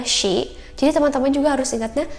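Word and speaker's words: し: Tapi karena ini cara bacanya pun bukan si, tapi ada haknya ya, shi.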